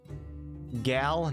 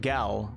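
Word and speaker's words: Gale: Gal, not Gel or Gall. Thanks, Milburn. Shout out to Milburn, guys. Hello, Rick Sanchez. Thanks for stopping in. Thanks for your channel membership. Gal has no sense of fun.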